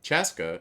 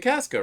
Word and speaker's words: Chaska: Chaska showing up late for something? Wait. That's a first. Chaska. Everyone's been saying Casca, right?